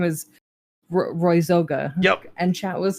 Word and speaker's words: Zoga: I always laugh because people either say zaga or they butcher it into something else and my favorite